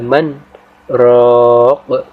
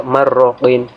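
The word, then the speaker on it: مَنْ رَاقٍ: Karena seandainya jika tidak ada sakta di sini, mungkin pembaca atau pendengar akan membacanya sebagai idgham bila gunnah, yaitu nun mati ketemu ro, jadi dibaca marroqin.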